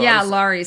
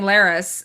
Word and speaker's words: Larys: But then they said Larys last night too. So Larys. See, I was saying Laris, Daenerys, but I had Varys.